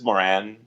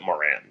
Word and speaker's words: Moran: I was just in Ireland and they told me that I was mispronouncing my last name because my last name is Irish. So they said it's Moran, excuse me. So it's but Moran. We pronounce it Moran.